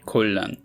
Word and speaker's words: 곤란: If we took this word and applied the readings of each constituent hanja, we would get quasil, but instead the word is spelled. Similarly, for this word, we would expect, but instead we get colon.